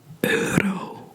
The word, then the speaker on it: euro: So the E and the U pronounces O. And you could use this in the word euro, which means euro. Euro is euro.